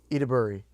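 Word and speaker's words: Ayo Edebiri: Excuse my ignorance on how to pronounce her name, but I looked up her pronunciation to help me. Her name is Io Ediburi. Ediburi? Ediburi.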